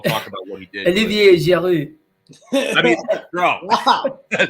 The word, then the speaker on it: Olivier Giroud: Olivier Giroud.